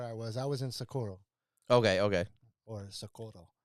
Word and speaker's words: Socorro: okay okay or so oh look at you look at you you have to say it like that there you get shot i saw two people go down for saying it the wrong way so i was really